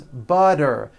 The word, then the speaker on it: butter: And butter becomes butter.